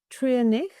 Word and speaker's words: Treurnich: You should being pronounced in all different ways, and I'm really not that fussed about it. It's Treurnich, and it's actually Trier means sad, and nicht is no or not.